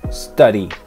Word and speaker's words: study: Ejemplo, study, en inglés americano se pronuncia study, study, con el sonido ari, ari, como si tuviera una R en medio.